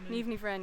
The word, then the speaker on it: Niamh Ní Bhroin: How do you pronounce your sort of Ní BHROIN? NIAMH Ní BHROIN, yeah.